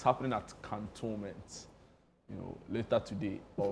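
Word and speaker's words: Cantonments: counttoments can count 17 to 19 cantoment that's the correct pronunciation can about istoment it's raw can but there's no e after the n No.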